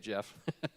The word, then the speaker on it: Geoff: And it's spelled Geoff, which is the proper spelling. But yeah, you say it Jeff.